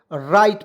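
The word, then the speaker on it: write: यहां देखिए अब देखिए डब्लू आर आई टी तो इसे क्या पढ़ेंगे राइट पढ़ेंगे क्यों पढ़ेंगे देखिए यहां पे डब्लू हम लोग साइलेंट कर दे रहे थे ठीक है ये हम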